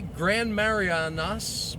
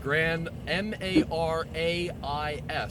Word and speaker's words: Grand Marais: No, it's the one I mispronounced. Grand, Marais, Minnesota. Grand Marais. Well, that's why, because I was thinking of the Mariana Islands.